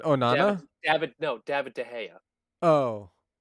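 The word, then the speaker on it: de Gea: reason is it Onana yeah but no David de Haya oh it's not laughs it's my understanding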